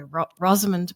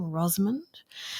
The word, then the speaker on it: Rosamund: And there were these new narrations or this one anyway, by Rosand Pike. That's how you say her name, Rosmond.